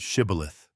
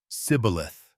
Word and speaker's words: shibboleth: The Gileadites knew that the Ephraimites' dialect lacked the sh sound. So they made every man who tried to cross say the Hebrew word shibboleth, which means an ear of corn. The Gileadites could pronounce the sh-o perfectly. The fleeing Ephraimites, however, could only manage sibboleth. That single, mispronounced consonant was a death sentence.